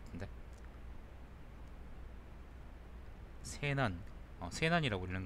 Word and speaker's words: 세난: 저게 설자인데, 말씀 설자인데, 이걸 세라고도 읽을 거예요. 세. 설이 아니라, 그쵸? 여기서는 그래서 세난이라고 읽는 게 맞지 않을까 싶은데, 일단 잠깐 보죠.